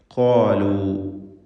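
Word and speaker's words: قالوا: ഖാലു ഈ സൂറത്തിൽ പലതവണ ആവർത്തിച്ചു വന്നൊരു പദമാണ് ഖാല, ഖാലു തുടങ്ങിയത്. ഖാഫിനും അതിൻ്റെ ദീർഘാക്ഷരമായ അലിഫിനും തഫ്ഖീം കൊടുക്കണം, പൂർണ്ണമായ തഫ്ഖീമാണ്. ഇസ്തിഅലാഇൻ്റെ ഹർഫാണ് ഖാഫ്, നല്ല കടുപ്പത്തിൽ ഉച്ചരിക്കേണ്ട അക്ഷരമാണ്.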